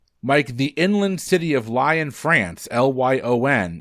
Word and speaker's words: Lyon: or UNESCO oh which of those is in Lyon um make me feel like an idiot for pronouncing lying incorrectly thank you well if you were going